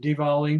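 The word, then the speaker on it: Diwali: Uh it's spelled with a W but it's pronounced Dvali.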